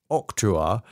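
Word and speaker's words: octroi: one that's a Google guy telling me the pronunciation of that octuar is a duty levied in some countries on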